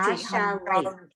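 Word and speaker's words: השרת: Just T. T, Hasharet. Hasharet Malachi Elyon.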